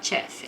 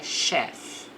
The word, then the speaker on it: chef: Aqui o ch ele não vai ter um tes, na hora de pronunciar. Então aqui não fala chef, é chef.